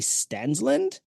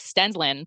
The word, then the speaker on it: Stensland: It's pronounced like Stensland, but I would say Stensland. It's easier for people to understand that.